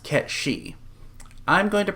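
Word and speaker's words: Cait Sith: And yes, I am aware in the old Celtic it's pronounced Ket-She. I'm going to pronounce it Kate Sith.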